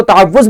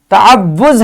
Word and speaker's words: تعوذ: آج ہم نے پڑھا کہ تعوذ کا درست تلفظ تعوذ ہے. اکثر اسے تعوذ پڑھتے ہیں، تعوذ پڑھنا غلط ہے. اس کا درست تلفظ ہے تعوذ.